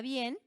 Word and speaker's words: bien: Pero, como están formando un diptongo, se pronuncian en la misma sílaba.